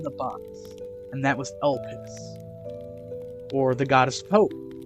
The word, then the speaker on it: Elpis: So Matnus' goddess is Elpis. I think that's how you say it. It's E-L-P-I-S.